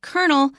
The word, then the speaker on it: kernel: of starch now first of all the word kernel is pronounced the same as an a rank in